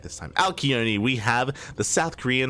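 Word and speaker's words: Alcyone: Alkione, we have the South Korean Zerg player representing Onside Gaming, as this is a team kill.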